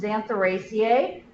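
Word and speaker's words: Xanthorrhoeaceae: This is pronounced Xantheraceae, a little bit easier to pronounce than the spelling looks.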